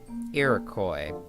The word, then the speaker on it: Iroquois: How do you pronounce that? Iroquois.